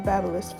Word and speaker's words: BaByliss: baby with flat iron with babyliss actually is pronounced my babyliss flat iron and you can